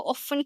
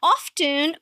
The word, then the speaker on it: often: Okay, these words are so often confused and I'm going to start with the first one that's my favorite this word.